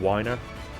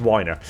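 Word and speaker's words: Wiener: new showrunner, David Weiner, I believe that's how it's pronounced. I've mispronounced it a few different times. Sometimes I've said Weiner, sometimes I've said Weiner, because it's spelt the same. I think it's Weiner.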